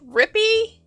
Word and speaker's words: Rippy: you you know rippy he finally told me it's not rippy it's rip so if i say your